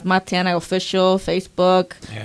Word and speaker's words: Matianak: Matianak. So K silence. Matiana. Okay. Got you. Perfect. Just pronounce it that way.